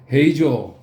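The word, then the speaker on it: 平壌: 헤이조 헤이조는 평양의 일본식 발음입니다.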